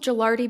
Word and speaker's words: Gelardi: We've also seen it pronounced Gelardi. We're going with Gelardi because we think that's what is correct, so please excuse us if we are pronouncing that wrong.